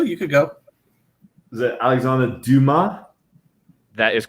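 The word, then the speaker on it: Alexandre Dumas: don't know if i've ever actually heard it pronounced at least yeah you could still you could go is it alexander duma that is correct yeah d-u-m-a-s dill man there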